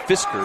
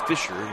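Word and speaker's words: Fischer: different it was m-i-s-c-h-e-r I don't know why that's not Fisker but it's Fisher yeah in most places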